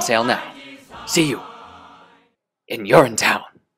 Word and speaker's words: Urinetown: Urinetown. The P is silent.